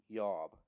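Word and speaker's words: IOB: It is spelled I-O-B, and probably would have been pronounced something like Yob.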